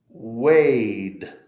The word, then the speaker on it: weighed: Weighed. GH is silent, so we just make the vibrating vowel sound.